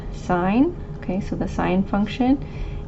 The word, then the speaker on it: sine: So we have sine, it's abbreviated SIN, but it's pronounced sine.